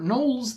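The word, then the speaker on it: gnoll: But where for Knolls, the G at the beginning is silent, for Pnolls, you pronounce the P.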